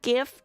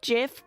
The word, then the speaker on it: GIF: You say like GIF. GIF. GIF. G like graphics interchange format.